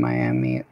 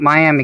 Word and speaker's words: Miami: route of here in Miami. See, I know that's Miami because I am from Oklahoma. That's not Miami, guys. We pronounce that in Oklahoma because I'm an Okie boy. That's Miami. Miami, Oklahoma.